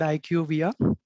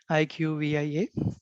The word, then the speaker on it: IQVIA: Yeah, because the company that I work for, it's called IQVIA. IQVIA, IQVIA. That's how we pronounce it.